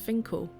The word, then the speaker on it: Finchale: of the river going by the name of Finkel Priory although spelled like Finn Trail it's actually pronounced Finkel occupying the site as early as 1196 and